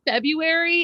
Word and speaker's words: February: don't think so it's February and I've always said it that way and it's cracks me up when people pronounce the r it's a silent R this is common knowledge in the English language there are so many